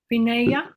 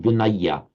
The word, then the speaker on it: Vinaya: many Thais, when you get the aya ending, many Thais pronounce it as an aya, Oh, okay. even though in writing it's an aya.